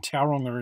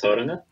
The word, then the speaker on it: Tauranga: We actually call it Tauranga. Tauranga, okay. it's actually a Māori word, and they have their own way of pronouncing things. Rolling the R.